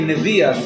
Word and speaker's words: Nevuah: They say Nevias instead of Nevuah. It's a Hasidic pronunciation.